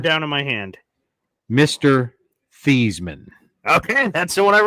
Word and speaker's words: Theismann: And for everyone on the show that doesn't recognize, Joe Thiesman is how you pronounce his name. Yeah. He changed his name in college to Theismann so it would rhyme with Heisman because he is a loser.